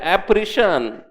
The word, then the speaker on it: apparition: ॲप्रिशन correct प्रोनाउन्सिएशन ॲप्रिशन. काय प्रोनाउन्सिएशन सांगा?